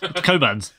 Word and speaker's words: Cockburn: Then why did they spell it Cockburn? I spent like 4 days with Meg and him saying this, and I was like, what? Coburn's. And he's like, it's literally on the bottom.